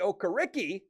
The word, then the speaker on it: Okereke: Bobby Okereke, I said it right that time, 4-year deal.